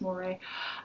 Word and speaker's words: mores: and it is pronounced mori i know it looks like morse but it's not it's moire um it comes out